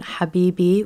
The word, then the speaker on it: habibi: So, we have words like um our favorite one, habibi, which just means my love. uh the stress is going to be on that second syllable there based on how the